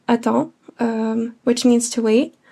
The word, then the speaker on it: attends: And I'd capitalize this meaning that I would pronounce it as the letter in the alphabet. It's the ah sound. In French, it's A B C. The ah sound, you're going to use here.